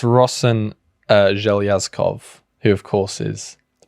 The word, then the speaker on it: Rosen Zhelyazkov: I did look it up. It's Rosen Zhelyazkov, who of course is the Prime Minister of Bulgaria.